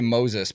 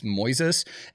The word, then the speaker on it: Moises: I think it's Moises I always want to say Moses but it's not spelled like that it's Moises anyways you can upload